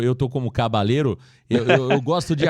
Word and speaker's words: Caballero: É, acho que tá mais para cabadeiro mesmo, viu, Adriano? Acho que você tem razão nesta pronúncia aí, mas é aquela pergunta que vai ser feita ali na coletiva, né? Normalmente o L tem som de de J realmente eh eh nos países sul-americanos, mas eh Adriano, o